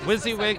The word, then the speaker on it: wysiwyg: if we had some sort of decent sunset wizzy wig live one word exactly mindy i guess the